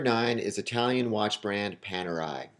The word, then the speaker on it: Panerai: Coming in at number nine is Italian watch brand Panerai. And from what I understand and what I have read, that is the correct pronunciation.